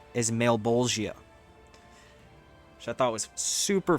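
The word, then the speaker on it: Malebolgia: It's, dude, I had to look up the pronunciation. His name is Malbolgia, which I thought was super funny, but I love the name.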